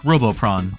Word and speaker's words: Robopon: Spelled like this, pronounced like Robopron.